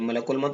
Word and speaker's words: ملک الموت: کرو، کیونکہ ملک الموت، دیکھیے ملک الموت الف لام ہے تو اس کو ملائیں گے، ملک الموت جس بندے کی روح